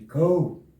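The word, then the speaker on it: Kull: O pessoal chama de Cool, essa pronúncia mesmo, Cool, mas se escreve Cool, né?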